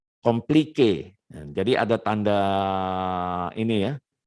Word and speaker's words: compliqué: Complique. Jadi ada tanda ini ya, apa namanya, tanda apostrofi atau apa namanya ini ya, yang di atas e-nya ini ditekan dia, di stress bacanya, complique.